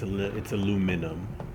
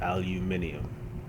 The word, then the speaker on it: aluminium: Because I live in the US where it's aluminum, and it is spelled aluminum. And in Britain, it is spelled and pronounced aluminium.